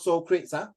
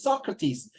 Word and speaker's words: Socrates: So how you pronounce the word Socrates, not Socrates, It's Socrates. It's one of the most famous philosopher, thinker, which is all time.